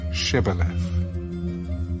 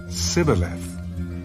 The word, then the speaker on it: Shibboleth: If he said no, then they would say to him, "Then say Shibboleth." And he would say Sibboleth, for he could not pronounce it right.